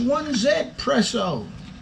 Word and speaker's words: 1Zpresso: heard somebody saying oh it's pronounced one zed preso so z is said in french like dublin is w for us so if he was